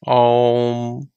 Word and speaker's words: Om: combination of three sounds some schools of thought are pronounced om as um and it is said